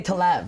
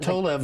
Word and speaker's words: Tolev: they muck it up it's the worst one Americans say to laugh they have that got weird they bring it up I had told left what no to laugh a wasn't saying but Tola of is my lab that's it okay go the